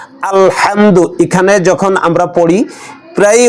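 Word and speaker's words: الْحَمْدُ: খায় বলেন আলহামদু আলহামদু এই ভুলটা খুবই সূক্ষ ভুল যাদের পড়া সহি আছে শুদ্ধ তারাও এই ভুলটা করে ফেলে আলহামদু এরকম কলকলা করে ফেলে এবং লামে জবর এসে যায় এখানে আলহামদু আলহামদু আলহামদু লামের উপর কি জবর না সাকিন বলেন তো সাকিন সাকিন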